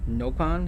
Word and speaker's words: Nopon: The first O in Nopon, am I saying that correctly, is pronounced with a short vowel sound in Xenoblade Chronicles 1, and in XC2, which were localized by Nintendo of Europe, and a long vowel sound in Xenoblade Chronicles X, which was localized by Nintendo of America.